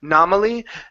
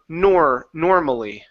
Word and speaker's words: normally: So instead of nominally, normally. Normally. One more time. Normally. Normally. Good. So she didn't dress normally. She didn't dress normally. Instead of normally, nor. Pronounce that R in there.